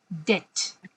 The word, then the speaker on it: debt: okay, So now the word we are talking about is DEBT. Am I right? yeah, yeah, ma'am. Debt Yeah. recovery Okay. agent. Yes. So it's called when we pronounce it, we say debt. No B.